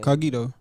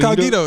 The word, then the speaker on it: Cogito: Yeah, it's like incognito, but without the.